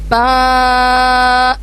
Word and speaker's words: ب: اس کے بعد نیکسٹ لفظ ہے ہمارا با. اس میں ہم دونوں ہونٹوں کو اچھے سے جڑائیں گے اور پھر ادا کریں گے با.